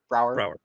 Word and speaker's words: Braugher: Brower.